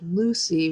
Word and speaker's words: Luci: There's a design called Lucy, which is spelled Luci, which is, we're actually